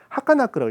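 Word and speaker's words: はかなく: 근데 이걸 읽을 때 하카나크라고 읽습니다.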